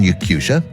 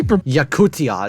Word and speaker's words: Yakutia: their fields for example residents of Russian yakusa have been specifically yakutia it's called yakutia um these American pronunciations